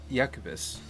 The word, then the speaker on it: Iacobus: a july 2019 map from yacouba's I think that's how it's pronounced IAC OB us called